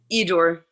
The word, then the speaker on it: Edore: So, huh, Eidor.